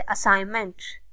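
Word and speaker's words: assignment: साइलेंट letters कहलाते हैं जैसे असाइनमेंट इसमें जी को प्रोनाउंस नहीं किया जा रहा रिस्ट इसमें आर से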